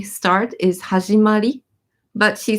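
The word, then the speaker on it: はじまり: In the proper way, the proper way to say start is hajimari, but she says hajimarinrin because she just wants to make the word a little bit cuter.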